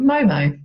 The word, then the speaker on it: Moe Moe: So the brand we're taking a look at today is called Moe Moe. I even called to make sure I'm pronouncing it correctly.